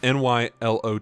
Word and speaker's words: Nylo: silk singer Nylo silk singer what Nylo uh n y l o t h oh I'm an idiot it' be pronounced Lo Nylo my apologies um they do